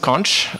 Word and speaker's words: Xonsh: to ask the question I go with conch where it's not X